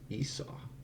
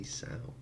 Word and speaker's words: Esau: Esau. Oh, Esau. Eso. Oh, I've been pronouncing me Isa. Esau.